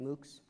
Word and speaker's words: MOOC: MOOCs I'm not sure how do you say that is it MOOCs so MOOCs have lost was it it's MOOCs all right good I don't know if it was Mohawks so so so they've